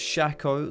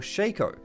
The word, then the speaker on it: Shaco: out of the way you can pronounce this Shaco like I do or shake oh if your parents don't